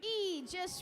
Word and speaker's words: Aegis: And you pronounce it with an E. It's 5243. Aegis Robotics.